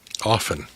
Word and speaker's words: often: the word of fteen often often there we go like coffin yep the tea is